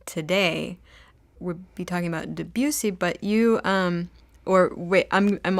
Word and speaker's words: Debussy: Yeah, well, today we'll be talking about Debussy, but you or wait, I'm already butchering the name. Debussy? I don't know. Beautiful. I'm from Texas. Debussy.